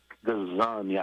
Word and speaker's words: Gazan: Gazan, Gazan.